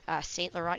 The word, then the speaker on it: St. Laurent: St. Laurent, you really don't pronounce the last T in it.